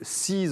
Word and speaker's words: C2ES: Parce que ça s'écrit C2ES. Tout à fait. Alors Seez, c'est Clean Earth Enjoy Sun.